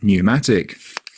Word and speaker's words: pneumatic: Don't say the P in receipt, cupboard, raspberry, coup. Words starting PS like psycho or words starting PN like pneumatic.